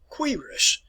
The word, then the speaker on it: cuirass: All right, now, if you notice here this term which is called, let me pronounce it for you, cuirass.